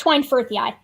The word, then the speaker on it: schweinfurthii: Yeah, it's Schweinfurthii. I still don't know how you pronounced it, but moving on.